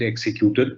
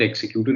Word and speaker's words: executor: of the will, or which we all end up pronouncing it executor. It's not executor, it's executor of the will, is in 2C.